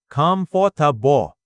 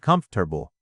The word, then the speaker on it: comfortable: Many learners say comfortable as comfortable. But the natural English pronunciation is something like comfortable. Fewer syllables.